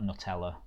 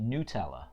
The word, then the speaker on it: Nutella: hoping it's something sweet uh I'm all about Nutella on um apparently it's not pronounced Nutella no way um yeah yeah yeah